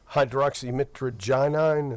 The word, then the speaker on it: hydroxymitragynine: And I think that is, and is that hydroxymitragynine? Is that how that's pronounced?